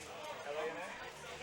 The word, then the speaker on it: Lana: L-A-N-A? It's Lana, like banana. Lana like banana, but not spelled like banana, right?